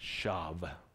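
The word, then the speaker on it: שָׁוְא: labor labor in vain that word vain is a Hebrew word pronounced Shaab it means failing to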